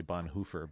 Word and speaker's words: Bonhoeffer: I suppose if you want to pronounce his name correctly, you're supposed to say Bonhoeffer, but that just seems weird whenever I say that, because I don't speak German.